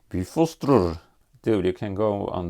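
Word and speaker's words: Bifröst: It's called Bifrost. Well, actually, in Icelandic, which is the more correct pronunciation of the Old Norse languages, it's called Bifrostrur.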